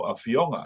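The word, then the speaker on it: afioga: Talafalava lo afionga. Your turn. Talafalava lo afionga. Yeah. And over here, it's generally the second to last syllable that's emphasized.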